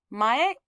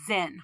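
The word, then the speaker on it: 前: So this is pronounced mae. Sometimes it's pronounced zen.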